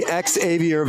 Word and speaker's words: Xavier: to do our best to pronounce Xavier's name absolutely correct every time and it's going to be Exavier Vala and he is going